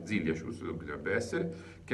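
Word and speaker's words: Zilliacus: mi hanno detto che va messo l'accento sulla prima vocale, Zilliacius dovrebbe essere, che è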